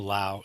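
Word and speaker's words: 老: no in uh sino-korean in uh Chinese is pronounced more like a Lao it means old and so this is the Lao in Lao TSU just means old master um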